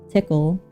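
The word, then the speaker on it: Tcl: you can choose between TC which I learned is pronounced tickle so that's hilarious you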